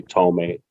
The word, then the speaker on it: Tohme: version of it because some people find it hard to pronounce Tohme, which is like phonetically, it's hard for those who do not speak certain languages. In my case, it's an Arabic last name. But basically, I just say Tohme.